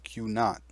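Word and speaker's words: Q̄: Q with a dash on top is pronounced Q not.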